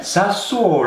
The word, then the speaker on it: Sassuolo: Okay, Sassuolo. Sassuolo. AC Milan. At least say it properly, mate. Sassuolo. People want to know who you're talking about. Sassuolo versus AC Milan.